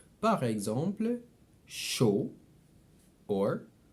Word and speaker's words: chaud: So AU is O, and of course, EAU is the same thing. So both of them are pronounced O. Par exemple, chaud or beaucoup.